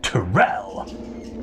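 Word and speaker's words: Turel: Which is pronounced Terrell!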